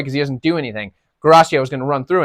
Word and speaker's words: Guarascio: Guarascio, I think is how you say it. Guarascio.